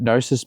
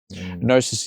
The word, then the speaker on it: Gnosis: Gnosis is just Greek for knowledge. Like, so, yeah. And like you told me last time, the G is silent because G's always move in silence, like lasagna.